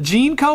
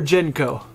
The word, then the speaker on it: JNCO: So to say is it JNCO or JNCO? Either way, I've heard it pronounced both.